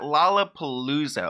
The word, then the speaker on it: Lollapalooza: Back in 2015, he performed at Lollapalooza.